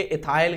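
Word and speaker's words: ethyl: तो सबसे पहले इन्हीं का नाम लिखो, क्या लिखोगे, एथिल लिखो सबसे पहले, एथिल। इसको इंग्लिश में उच्चारण करेंगे, इथाइल करेंगे।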